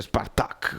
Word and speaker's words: Spartak: è che lo Spartak, si dice Spartak con l'accento sulla finale H, non è che ti